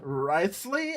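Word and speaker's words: Wriothesley: Riceley, I think is how his name is pronounced.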